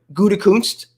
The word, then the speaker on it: Gutekunst: But also, contrarily, Peter King reported that the Packers GM, Gutekunst, say it right?